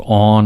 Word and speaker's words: On: reference the god of on or the word on it's spelled just o n and is on or off it's talking about on